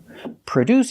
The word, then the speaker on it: produce: make or manufacture products pronunciation produce we put the stress on the second syllable produce produce the first syllable is pronounced with a relaxed uh sound like cup and up uh PR PR produce